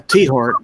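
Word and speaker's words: Tiahrt: Then we got the Tyhart Amendment. Anybody remember that one? This is 2003. Tyhart Amendment. Republican from Kansas, so I'm surprised Gary doesn't know. It's yeah, T-Hart. That's how it's pronounced.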